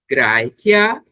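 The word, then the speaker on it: Graecia: Lembrem que a pronúncia desse ae tem som de ai e que o c tem sempre som de k. Então, Graikia Europa este, Itália é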